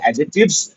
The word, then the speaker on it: adjectives: एडजेक्टिव्स ऐसे बोलते हैं बट एक्चुअली डी साइलेंट रहता है तो इसलिए एडजेक्टिव्स डी साइलेंट रहता है व्हाइल प्रोनाउंसिएटिंग एडजेक्टिव्स तो डी साउंड रहता